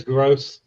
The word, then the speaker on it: Gross: do you say your last name it is gross that's what I was told yeah they didn't give you gross I called you gross because I thought maybe it's not gross you know yeah well either way it is